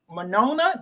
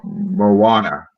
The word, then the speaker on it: Moana: about the South Pacific man manona did I say it right Mo to Moana Moana Moana and Moana